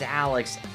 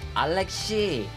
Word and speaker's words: Alex: Like for example, um there's one coworker, he knows my name is Alex, and she says Alexi. Doesn't say Alexi, but anyways, that's just her thing. I've told her that's not the right way to say she I don't care.